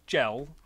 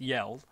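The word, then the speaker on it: Jelle: thought it was pronounced gel but it's not because it's a foreign name so it's actually pronounced yell yeah um and so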